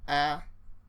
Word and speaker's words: habitants: We say d'habitants, habitants. See how I don't pronounce the last two letters there.